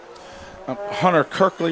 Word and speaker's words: Hunter Kirkley: Yeah, our quarterback is Hunter Kirkley, right? Am I saying that name right? You are saying it right, yep.